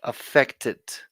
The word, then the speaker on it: affected: like the pronunciation of affected effect effect is in the present and because it's a regular verb the way you are going to pronounce it in the past is affected there's one more syllable so I want you